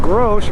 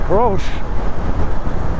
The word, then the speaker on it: Grolsch: So, but my beer of choice is a Grolsch, or as it's actually pronounced, a Grolsch.